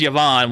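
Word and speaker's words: Yevan: It's not pronounced Yvonne. It's pronounced Yvonne with Y-E V-A-N.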